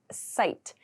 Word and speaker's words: cite: to cite to cite the pronunciation here is site c-i-t-e so to cite